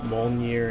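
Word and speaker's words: Mjölnir: to say this the M molier Hammer I'm pretty sure that J is silent M Hammer I should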